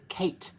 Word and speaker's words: Kate: had to do is pronounce the name Kate like you didn't understand it. Kate. Kate? It is Kat.